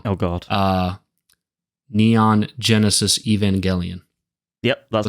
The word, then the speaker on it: Evangelion: like really wrong yeah people say Evangel and they pronounce it g as J and stuff so it's like yeah yeah evang jelli um yeah um but